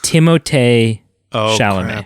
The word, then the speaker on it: Timothée Chalamet: It is Timothée Chalamet.